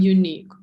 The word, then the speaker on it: unique: Помните, я вам как-то говорила, последние буковки, когда ю и, они не читаются, так как это из французского заимствования. И получаем unique. Unique.